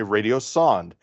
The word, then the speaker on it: radiosonde: Some people pronounce it sonda. You'll hear that. Some people pronounce it sonde. I'm in the sonde camp. I'm going to say radiosonde.